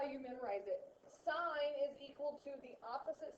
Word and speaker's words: sine: So we say sine, which actually spelled out is like this, or the shorthand version of that looks like sin, but you really say sine.